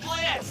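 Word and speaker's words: Blitzø: The name's Blitz. The O is silent and I'll be your assassin today.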